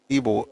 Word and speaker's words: Ibo: But to be honest, I also spell Ebo as IBO. I pronounce it as Ebo, but I spell it IBO.